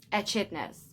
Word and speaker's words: echidnas: is that how you say it in chidas echidnas i read it wrong i was doing so well like the niffler uses its snout to find precious gems it's precious shiny gems the short beaks echidnas use their lungs now to find their insect